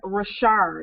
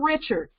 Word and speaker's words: Ri'chard: vote for Ri'chard. It's not Richard, even though it looks like it's spelled that way. It's Ri'chard for Detroit City Clerk.